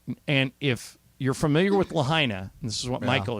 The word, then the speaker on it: Lahaina: Lahaina.